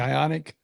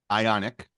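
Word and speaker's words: Ioniq: not but the Hyundai how do you say it again ionic ionic ionic I ion like ion like like ion ionic ionic yes they have they have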